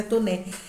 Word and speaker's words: Taunay: Aí, gente, vem também, que eu não falei para vocês, o Visconde de Toné, que se escreve Taunay, mas é Toné.